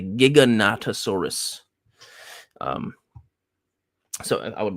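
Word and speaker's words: Giganotosaurus: squeeze in um the It's not the Gigantosaurus. I've been saying it wrong this whole time. It's the Giggonatasaurus.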